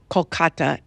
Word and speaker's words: Kolkata: And the story takes place in the near future in the city of Kolkata, India. Is that how you pronounce it?